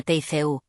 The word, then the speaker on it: Teku: Cuando otro guía, Teku, se pronuncia Teu, se hizo presente, Teku